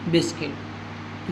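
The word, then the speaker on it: biscuit: यू आई ल ए घायल जी यू आई टी ए ल guitar ji यू ए आर दी बिस्कुट यू के बाद कोई स्वर हो तो यू का उच्चारण नहीं होता है नंबर 14 पर है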